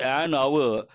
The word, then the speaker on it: hour: words are begin with a silent or mute H in this context if you take the word many of you I'm sure know the simple word hour you say a hour or an hour why do we say an hour because H is silent mute